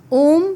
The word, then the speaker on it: ओम: इसको डिवाइड किया जाता है 20, 30 और 50% में। 20% ये स्टार्ट होता है हमारी नाभि से। और यहां से उच्चारण शुरू होता है आ। फिर हमारी छाती में 30% और इसका उच्चारण होता है ओम 50% हमारे होठों पे और इसका उच्चारण होता है इस तरीके से ओम का उच्चारण किया जाता है।